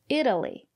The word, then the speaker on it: Italy: If it's not stressed, we pronounce it as D, Italy.